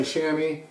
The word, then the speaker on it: chamois: very good very good shema so some people say shami chamois in german it's goms i speak german so